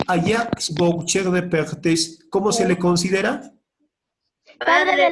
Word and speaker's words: Jacques Boucher de Perthes: ¿Cómo se pronuncia? Jacques Boucher de Perthes.